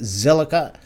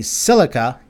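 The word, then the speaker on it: Zilliqa: Let's go take a look and see what is going on with Zilica. Actually, silica, and I've been saying it wrong. Yeah, silica as in silica oxide.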